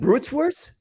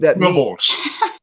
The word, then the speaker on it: Boerewors: How do you, and what do you, it's bull tongue and Bruteswurst? Bruteswurst? How do you say that meat? Boerewors.